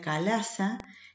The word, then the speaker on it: chalaza: En latín se pronuncia calaza, que es la zona en que los tegumentos se sueldan con el funículo.